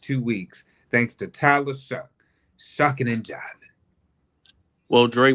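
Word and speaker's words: Shough: Tyler Shuck and the New Orleans Saints.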